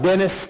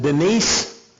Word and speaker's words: Denise: get to this picture it looks like dennis they pronounce it denise but denise selnick is